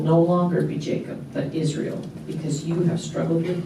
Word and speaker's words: Israel: changed his name to if you pronounce it Israel you hear the L at the end l means god Israel means wrestles with God